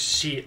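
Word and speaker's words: シ: or maybe not continue she she pronounce it as she like in the word sheep it's a smiley she every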